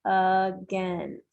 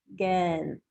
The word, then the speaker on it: against: So it's against. Like we have the A here, that's the schwa, against.